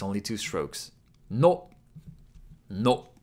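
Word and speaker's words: の: No. No. No is pronounced like no in nose or nori.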